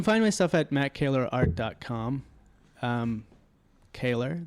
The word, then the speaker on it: Kehler: Kehler, that's how you say it if you see me in the wild. How do you spell it if they're trying to look it up? Kehler. It's A, like EH, like A. Like quintessentially Canadian.